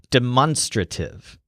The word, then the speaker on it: demonstrative: for the word demonstrative it kind of has a stress on monster demonstrative so think of the